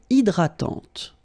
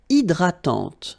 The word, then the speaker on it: hydratante: Une crème hydratante. So remember, H is not existing, and then this Y is pronounced like E.